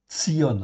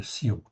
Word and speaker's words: Tsion: Tsion en fait ici la montagne de Tsion. OK, je dis bien, je dis pas la montagne de Sion, je dis la montagne de Ton.